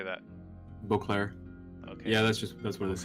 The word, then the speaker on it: Beauclair: Beauclair.